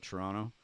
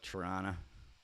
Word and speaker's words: Toronto: Most Canadians don't pronounce the T. We call it Toronto, but some Canadian rednecks will call it Toronto.